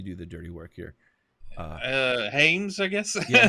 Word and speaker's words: Hyams: I'll let you pronounce. I'll let you do the dirty work here. Hyams, I guess. Yeah, Hyams.